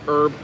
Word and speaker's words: herb: if I'm wrong, Simon, I think the Brits pronounce herb, herb. Like you actually enunciate the H, where here in America, we say herb, as if the H isn't there.